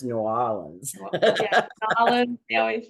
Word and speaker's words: New Orleans: We're like that about New Orleans. Oh yeah, It's I'm not sure New Orleans, it's New Orleans.